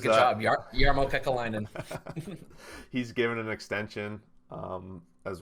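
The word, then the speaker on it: Kekäläinen: And I like how you give it to me because Kakalainen, is that how you pronounce it? Yeah, yep. Gives Good job, Jarmo Kekalainen.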